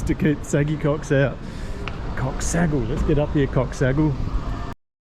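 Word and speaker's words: Çox sağ ol: Thank you, Coxsagul. Coxsagul. Saggy cock is how you say thank you.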